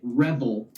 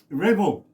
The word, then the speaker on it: Revel: And I and I pronounce it Rebel. Rebel.